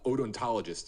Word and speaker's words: odontologist: examination uh ontologist anthropologist extremely odontologist is the correct pronunciation anthropologist confirmation of the